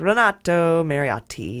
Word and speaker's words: Renato Mariotti: Yeah, I could say Renato Mariotti, but I'm like, Renato Mariotti. I have to hit those T's hard.